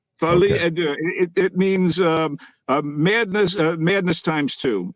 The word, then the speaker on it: folie à deux: Folie à deux? Folie à deux.